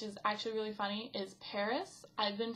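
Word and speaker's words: PVRIS: breakthrough band which is actually really funny is Paris I've been pronouncing it pissed this whole time and then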